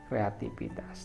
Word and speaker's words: kreativitas: salah dalam pengucapannya ialah kata kreativitas menggunakan huruf F tetapi yang betul dialah menggunakan rupiah di tengah-tengah itu kreativitas nah hal ini sering